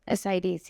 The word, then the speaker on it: Ascites: Ascites, yes.